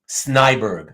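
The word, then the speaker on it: Snejbjerg: really Americanized it because I'm pretty sure I'm pretty sure that both J's would be pronounced and as wise like probably closer to this maybe snide bjerg but but definitely the second J would still sound like a y but anyhow sure if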